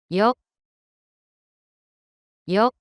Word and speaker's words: よ: よ、よ、 The pronunciation of character Yo in Japanese is something like the combination of YOH in English.